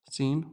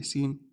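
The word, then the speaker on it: سين: So, seen, what is the first sound you hear when I say seen? You hear s- sa si su. Okay, we have sa, si, su. Next one, when I say sheen, what do you hear? You hear sh- sha shi shu. Okay? Seen is basically an S in English.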